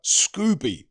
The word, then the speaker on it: Scoby: Adam scores a 12th round TKO victory over Kurt Scooby even though it's spelled Scobby on the undercard of Eubank Jr.